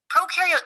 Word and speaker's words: prokaryote: Prokaryote symbiosis means these organisms live together. So, just to recap from our Intro to Cells video, when you think of prokaryote, think of pro rhyming with no, no nucleus, no membrane bound organelles.